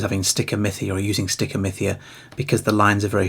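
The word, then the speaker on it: stichomythia: And it's called stickeria which is spelled s t i c h o m y t h i a.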